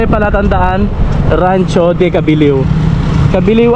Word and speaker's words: Cabileo: Cabiliw ang basa dyan, ang bigkas, pero Cabileo yung spelling.